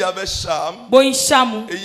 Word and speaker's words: Cham: Il s'agissait de Cham. Dans d'autres prononciations, Cam.